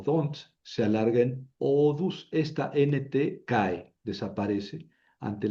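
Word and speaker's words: ὀδούς: Se alarga en u. Odus quiere decir diente.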